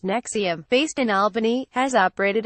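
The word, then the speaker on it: NXIVM: even branded the group an XIV M pronounced nexium based in Albany has operated across the u.s.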